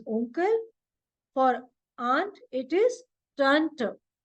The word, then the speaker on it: Onkel: Okay, and without umlaut, just single O, it is pronounced as O. So for uncle, it is onkel.